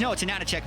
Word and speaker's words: AHaHaCiK: For those viewers, it's spelled, you see it, it's AHaHaCiK or whatever, but it's AHaHaCiK because the H's, as far as his in-game name, are meant to look like N's.